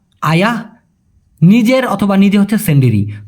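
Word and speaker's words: sendiri: উনার প্রথম প্রশ্ন ছিল সিন্ডেরি। দ্বিতীয়টা হল মিষ্টি। ভাই সঠিক উচ্চারণটা হবে সন্ডেরি।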